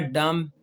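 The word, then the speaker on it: dumb: फिर अगला है डम। इसमें भी बी साइलेंट है।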